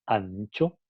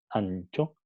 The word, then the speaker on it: ancho: Por ejemplo, si pronunciamos ancho, ancho, entonces vamos a notar que N pasa a ser una N, un alófono palatal, ¿no?